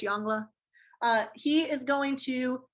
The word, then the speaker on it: Yongle: collect tribute so emperor yangla i know it's spelled yongle if you want to pronounce it that way to help you remember how to spell it's fine i'm pretty sure it's yongla uh he is going